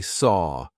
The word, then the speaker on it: saw: So, actually, saw feels like it should rhyme with door, right?